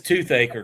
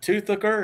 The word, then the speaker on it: Toothacre: I And and it is Toothacre because I asked him. Okay. Yeah, because I said, "Is it Toothucker?"